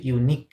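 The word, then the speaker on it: unique: একটা ফুল ওয়ার্ড থাকবে ওই ওয়ার্ডের শেষে যদি কিউ ইউ দেখেন ওই তিনটা লেটারকে জাস্ট ক উচ্চারণ করতে হবে কি হবে ক সাউন্ড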